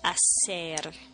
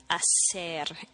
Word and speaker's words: hacer: To do or to make in Spanish is hacer. Hacer. H-A-C-E-R. The H is silent.